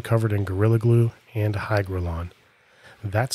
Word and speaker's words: hygrolon: brush and then covered in Gorilla Glue and hygrolon that's spelled h-y-g-r-o-l-o-n for everybody in the comments that's